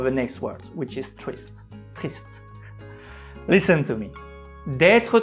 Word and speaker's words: triste: And here is the last word, triste. Again, we don't pronounce the letter E at the end.